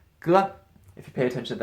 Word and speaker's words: 歌: This is ge, but this means song, right? 唱歌. This is a song, so this component is a phonetic component here, and it's usually pronounced something like ge.